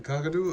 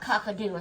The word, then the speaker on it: cockatoo: the cockatoo? Okay. It's not cockadoo, it's cockatoo.